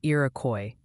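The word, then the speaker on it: Iroquois: They're gently suggesting Irakcoy County is pronounced closer to Irakcoy.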